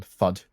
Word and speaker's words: FUD: A bit of a weird term, FUD. Fuddy-duddy. Sounds like the word food, but without the... But without the good bit, right?